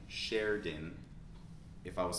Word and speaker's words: Sheridan: So we have Sheridan, Sheridan. We don't really pronounce this I.